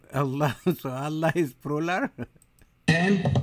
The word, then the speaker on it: Allah: If it's A-L-A-H, is Allah. You say Allah. I said, look, say Allah, my language.